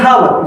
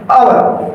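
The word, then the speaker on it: hour: आप लोग इसको पढ़ते हैं हावर। जबकि इसका सही प्रोनंसिएशन है आवर। आवर। ठीक है? ऐसा इसलिए है क्योंकि एच जो है वो साइलेंट है।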